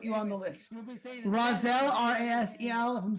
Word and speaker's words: Rasel: Razel R A S E L. If I'm saying your name wrong, forgive me.